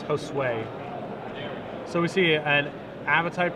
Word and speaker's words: Josue: wrap yeah absolutely and the pronunciation of the name apparently is josue so we see an